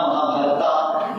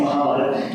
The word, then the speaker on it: Mahabharata: not say Dharma, we should not say Ramayana, Mahabharata, it is Ramayana, Mahabharata, Yoga, Yoga. So that A is added by the other people because it was very difficult for those westernized people to pronounce properly all these different words.